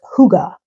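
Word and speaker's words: hygge: when I looked up how you pronounce that and it's Huga I think it's Danish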